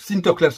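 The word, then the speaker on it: Sinterklaas: ont sont à l'origine saan-nicolas se prononce sinter class en hollandais lorsqu'ils ont émigré aux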